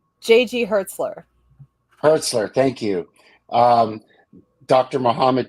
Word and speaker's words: Hertzler: um JJ uh Hertz hertzler how do you pronounce his last name J.G hertzler hertzler thank you um Dr Muhammad Noor Doug Jones